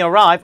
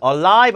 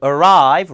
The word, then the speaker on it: arrive: 자, when we arrive, alive 아니고 arrive, 라 발음, arrive, 알 발음 잘해야 돼요.